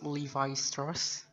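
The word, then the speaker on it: Levi Strauss: the third the third is i think it's levi stars exactly okay good now that is the correct way to pronounce the name of the company or maybe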